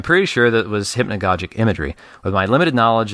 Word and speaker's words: hypnagogic: The only, unfortunately, it was at limited time, and so the only research I did was figured out how to pronounce hypnagogic. But it is hypnagogic and hypnagogia.